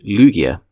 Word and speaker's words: Lugia: In English, Lugia is typically pronounced Lugia with the emphasis on the first syllable.